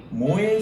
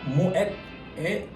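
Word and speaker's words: Moët: 그래서 모의 샹동이 아니라 모엣의 샹동이라고 풀네임을 해주시는 게 맞습니다. 자, 아셨죠? 네, 모르셨죠? 전혀 몰랐던 사실인데 모엣 이 불어가 아니고 네덜란드어라는 거 여러분들 꼭 기억해 주시고 모엣까지 꼭 발음을 해주셔야 됩니다.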